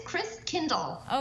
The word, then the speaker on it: Christkindl: And yes, it is Christkindl. Okay, so Melinda, tell me all about what's going on this year so we can feel like we're at a market even from our living room. So Christkindl Live was created because, you know, Corona, and